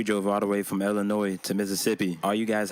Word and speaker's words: Illinois: all the way from Illinois to Mississippi are you guys happy now that I said Illinois and I didn't pronounce the S the last video they